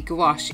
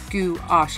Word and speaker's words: gouache: I say gouache, like goulash, I suppose.